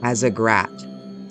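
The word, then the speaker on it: Azzagrat: z-e-l-a-t-a-r zeletar and the greater realm of as a grat a-z-z a g r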